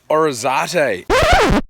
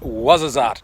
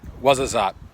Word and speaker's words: Ouarzazate: Hey everybody, welcome to Orizate. No, it's actually pronounced Ouarzazate, not Orizate, Ouarzazate.